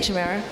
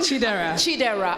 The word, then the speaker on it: Chidera: And then I wanted to sort of, jumping off of that, Chimera, you talked about, is your name Chimera? No, it's just like she keeps saying it wrong. Chidera.